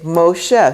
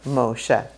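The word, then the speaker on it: משה: a homage will say Moshe so you'll have a mem with this oh right there and you pronounce the O and that's how you get Moshe oh so that a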